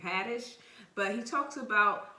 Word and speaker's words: Haddish: talks about it with with Tiffany Harnish okay I think that's how you say her name Haddish but he talks about